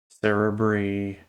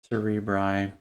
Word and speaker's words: cerebri: alks cerebri alx cerebri and a lot of these words you'll hear pronounced differently by the way sarah bree cerebri anyway is acceptable you'll hear these words